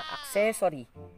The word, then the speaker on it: accessory: Ini-stress nila dun sa salitang or dun sa syllable na so. Pero actually, dapat yung stress niya, yung diin nito, pag sinabi natin stress, ito yung diin. Wow. Saan mas may emphasis, at saka mas... Okay, ito namang ikatlong word na to, pakibasa, J-Lord.